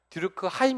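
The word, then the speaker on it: Durkheim: 사람이 누구에요 2족 갱 디르크 하임 이라고 하면 독일식 발음으로 그래서 규범이 해체된 사회에서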